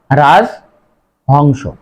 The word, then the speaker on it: রাজহংস: আরেকটা শব্দ দেখো রাজহংস, এখানে রাজহংস হবে না, সঠিক উচ্চারণ হবে রাজহংস।